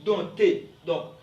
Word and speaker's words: dompter: pas on dit baptême on dit dompter P ok ne se prononce pas on dit donc ok vous êtes d'apprendre